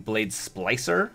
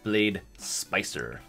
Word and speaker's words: Blade Splicer: Instead of saying Blade Splicer, I said Blade Spicer.